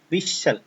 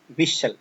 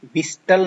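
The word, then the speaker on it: whistle: विशल, इसमें जो एस जो है वो टी जो है वो साइलेंट है, टी साइलेंट है, ऐसे नहीं, विशल, तो टी की विस्टल नहीं बोलना, इसको विशल बोलेंगे।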